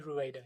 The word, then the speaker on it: Rueda: Uh which you co-authored with, if I'm pronouncing her name right, Heidi Rueda. Heidi Roueda. Yes.